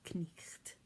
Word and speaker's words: night: be pronounced so um a word like night becomes knist so most consonants sound